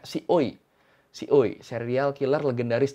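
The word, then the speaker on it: ซีอุย: Ya udah langsungnya kita mulai pembahasan tentang Si Kuei, atau kalau orang Thailand tuh bacanya Si Oi.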